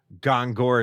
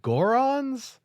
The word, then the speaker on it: Goron: You didn't even say it right. How do you say it? I want to say this right. Are you talking about tears to flow? Are you talking about Gorons?